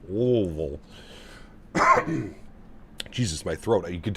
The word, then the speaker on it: Louisville: Louisville. Louisville.